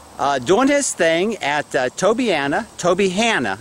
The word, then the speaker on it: Tobyhanna: But this is G doing his thing at Tobyhanna. I got to pronounce that right, like Hannah Montana. Tobyhanna State Park.